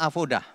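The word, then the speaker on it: עבודה: voz dah ah oh udah ini bacanya avodah kalau dilihat di kamus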